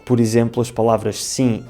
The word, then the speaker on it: sim: Mas claro que não é assim tão simples, porque em português o M no final das palavras nunca faz o som M, em vez disso faz um som nasal. Por exemplo, as palavras sim e bom não se